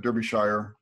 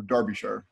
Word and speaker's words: Derbyshire: is with us today all the way from Derbyshire or Derbyshire I should say you can you pronounce that for sharing don't be [ __